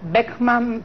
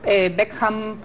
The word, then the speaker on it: Beckham: tablero bastante bastante complejo beckmann beckham para pronunciarlo correctamente picó en punta con